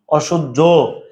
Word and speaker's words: অসহ্য: অসহ্য, অসহ্য, হজফলাইয়ের পরিবর্তন হবে কি? বর্গীয় জ হসন্ত জ, অসহ্য। তাহলে ভাইয়া অ দন্তস্ব হয়ে যাবে তালবস্য, সহজ না বিষয়গুলো?